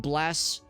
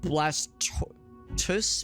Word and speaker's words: Blastoise: I pronounce it as Blastoise, like I just said. I guess I could see like Blastoy, maybe, or like, how else would you pronounce it? Because of like the tortoise, so like Blastus, maybe.